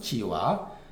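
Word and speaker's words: 蚳鼃: 맹자가 지아한테 이러 말하기를 지화가 사람 이름이라고 합니다 발음은 지와 그대가이 요거는 자는 뭐예요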